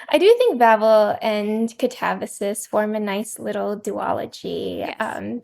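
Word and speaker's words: Katabasis: In my head, I always pronounced it Catabasis, like Calabasas or something horrible, but Melody has been coaching me. Catabasis.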